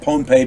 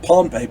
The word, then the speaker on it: Pohnpei: I'm going to say it's, excuse me, I'm going to say it's pronounced Pohnpei because otherwise it sounds like Pompeii over there in Greece, and it's not.